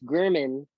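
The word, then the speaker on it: Germann: It's spelled like German, but it's pronounced German water vapor test.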